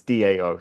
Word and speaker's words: Dao: little bit um uh the one pinion correction I really want to make is that in modern pinion it's Dao so it's a much more ACC urate way to pronounce da I think probably of